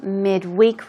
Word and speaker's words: midweek: like what you're saying midweek release midweek usually as a noun the stress goes on the first syllable it's also used as